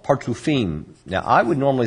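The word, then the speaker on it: partzufim: parsouf is yes but there's another word called partufine now i would normally spell this if i was going to spell it in what we call heblish in other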